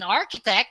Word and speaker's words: architect: complex if he can in architect ch is k in arch it is the